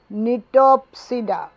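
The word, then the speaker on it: Gnetopsida: শ্রেণী 3, নিটপসিডা, জিটা silent, NETOPSIDA।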